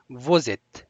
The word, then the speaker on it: vous êtes: دغه اس او ای سره داسې یو ځای تلفظ کیږي. Vous êtes.